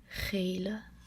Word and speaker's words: gele: Becomes gele, because the double E is pronounced the same as when you paste the E after the word.